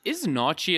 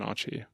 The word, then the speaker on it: naartjie: It just seems like the way naartjie is spelt and written. Yeah, it looks like a very Afrikaans, like, you know, that TJIE at the end. It wouldn't be naartjie, it'd be naartjie.